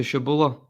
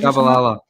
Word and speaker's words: Shabalala: And it was is it to Shabula? What a goal he scored, or I might not pronounce that correctly. Shabalala.